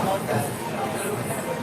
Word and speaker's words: Norfolk: Oh, Norfolk, which is kind of how, well, it's spelled Norfolk. I know. Kind of like that, but a lot of the locals out there will say Norfolk.